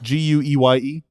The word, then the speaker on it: Gueye: Gueye?